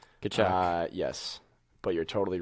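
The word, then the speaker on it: Tkachuk: Hey, the Coyotes had Keith I can never pronounce his name. Keith Kachuk. Kachuk.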